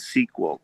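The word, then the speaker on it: SQL: uh the my sequel it's called sequel but it's spelled s-q-l i always forget well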